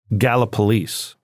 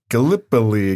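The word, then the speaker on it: Gallipolis: I mean, there are people from Gala Police, which is literally right across the Ohio River. Look at you knowing how to pronounce it.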